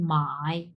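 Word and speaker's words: 买: বাইর হচ্ছে চাইনিজ দেখেন মাই মানে কেনা বাই তিন number ton properly V shape উচ্চারণ করতে হবে এই ভিটা এই মাঝখানের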